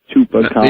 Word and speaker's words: Chupacabra: Chupacabra. It is my mission in life to teach people how to pronounce that.